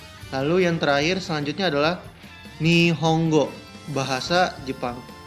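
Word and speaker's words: 日本語: bahasa Jepang S kan kalau secara tulisannya ni Hongo tapi kok dibacanya ni honggo karena n dalam bahasa Jepang dibacanya Eng maka otomatis di sini seperti enya dobble makanya ni honggo bacaannya ya selanjutnya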